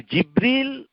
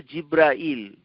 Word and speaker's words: জিবরীল: জিব্রাইল এটা হচ্ছে তাকে জিবরীল আবার উচ্চারণ দুভাবেই করা যায় জিবরীল আরেকটা উচ্চারণ হচ্ছে জিব্রাইল আমরা দুভাবেই নামটাকে উচ্চারণ করতে পারি জিব্রাইল অথবা জিবরীল ওয়াহুয়া রুহুল কুদুস তাকে